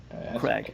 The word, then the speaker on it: Craig: Was I supposed to pronounce it differently? Craig. Okay. Craig.